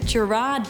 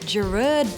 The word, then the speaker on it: Gerard: we mostly call him Gerard Butler but that drives him crazy his name is actually pronounced gerud Butler and so he likes to go by